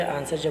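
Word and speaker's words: answer: पर बोल कर देखिए आंसर बोलेगा उसमें डब्लू का प्रोफेशन बिल्कुल नहीं करते हैं डायलॉग बोलते हैं यह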